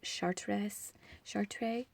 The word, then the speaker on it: Chartres: the, you know what, I think it's pronounced Chartres. It's French, and I didn't take French, I took Latin, so bear with me.